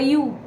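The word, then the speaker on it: ewe: Lamb of the sheep the youu okay the pronunciation yesterday I wasn't so clear about it but yeah it's a sheep okay so asking the uh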